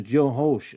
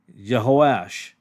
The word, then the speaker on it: Jehoash: he sent a challenge to jeos I'm sorry I pronounced that wrong jehoash king of Israel not